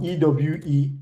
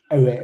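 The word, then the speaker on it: Ewe: I know there's a language called I don't want to mispronounce it right. So Ew. Is it aware or please correct me if I'm wrong? Ew. Aware aware.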